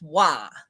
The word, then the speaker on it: Roy: And I was doing updates one morning, and I called the goalie Patrick Roy. And for people who don't know, it's spelled Roy, but it's pronounced Wah, like W-A-H.